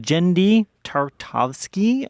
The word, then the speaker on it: Genndy Tartakovsky: makes a romantic connection it's directed by Ginn genndy tartakovsky I wanted to make sure I pronounced that it's got the voice acting of